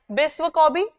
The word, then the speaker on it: Biswa Kabi: Gurudev, Kabi Guru, and it is written as we pronounce it in Bengali. So Kabi Guru means Kavi Guru, correct? Biswa Kabi means Vishwa Kavi, correct?